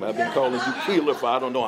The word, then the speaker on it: Keylor: Howard Keylor, and I have one bone to pick with you, Howard.